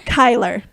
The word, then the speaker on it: Kyler: Kyler. Kyler. Yes, so it's like Tyler with a K.